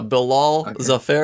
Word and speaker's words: Bilal Zafar: do have a nice intro now but uh bill all the fair is that how you say your name yeah